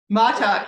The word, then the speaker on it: Mattauk: Mattauk? Mattauk, yeah. So often confused with Montauk.